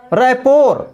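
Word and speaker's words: rapport: रैपोर, रैपोर miss होता है घनिष्ठता। रिक्शे, रिक्शे मिस होता है टप्पा खाना। बुके, बुके मिस होता है गुलदस्ता। इन शब्दों में भी टी साइलेंट है।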